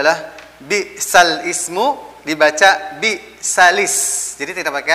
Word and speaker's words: بئس الاسم: Jadi cara bacanya adalah bi'sal ismu dibaca bi'salis. Jadi tidak pakai alif lam. Ya, sekali lagi untuk naql adalah cara bacanya adalah bukan bi'sal ismu tapi bi'salismu.